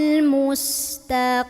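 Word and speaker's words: مستقيم: lam enggak boleh mantulatolqimim qnya jangan taim Kim jangan Kim itu huruf Kaf jadi ini qim pangkal lidah naikin biar tebal ya enggak ada angin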